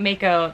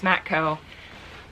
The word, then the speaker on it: Matco: Sorry, Matco. I'm just saying it wrong. It's not Mako. It's not like the shark. It's Matco.